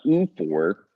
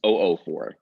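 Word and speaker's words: oophor: had that one already this is not U for this is o4 means OV you actually say both O's separately o4 Sal is a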